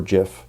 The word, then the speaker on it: GIF: H if I'm exporting an animated GIF or GIF, depending on how you want to pronounce it, I probably don't need it at proper 1920 x 1080.